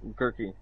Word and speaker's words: Gurky: Gurky. Gurky. This is your champion. Like jerky, but with a grr instead of jerk.